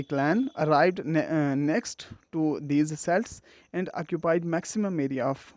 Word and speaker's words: Celts: A deluge of invaders known as Celts, we can also pronounce it Celts, arrived on the shores of England around 500 BC, and those Celts were made up of numerous tribes.